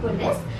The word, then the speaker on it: police: Everyone pronounces this word as police only. तो हम भी पुलिस ही बोल लेते हैं, but it's not police, it's police.